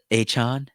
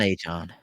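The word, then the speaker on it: Achane: Oh, I heard there's a new way to pronounce it now. Right. Mr. Devon Achon. Is it Achon. Achon? He wants, Achon.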